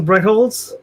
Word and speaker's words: Brettholtz: to our guest this is your awesome brecholz did i pronounce that correctly you did yeah okay cool